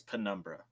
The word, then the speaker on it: Penumbra: are actually scarier is Penumbra, the first 2. Pinocchio? Yeah, Pinocchio, The Dark Descent. Isn't it just Numbra? No, it's Penumbra.